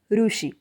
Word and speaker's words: ऋषि: रू का प्रोनाउंसिएशन हिंदी में री इस प्रकार से होता है, जैसे कि री से ऋषि। इसे मराठी में कहते हैं ऋषि।